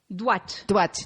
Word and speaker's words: Houat: Right, and it's pronounced Île-d'Houat. D'Houat. D apostrophe, right?